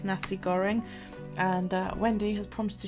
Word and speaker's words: nasi goreng: our mommy does so yeah nasi goreng that's how you pronounce it yeah there's a